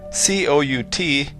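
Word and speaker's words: cout: work in this program cou t is pronounced C out and it is the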